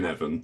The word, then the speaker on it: Cynefin: Yeah, Cynefin, yeah.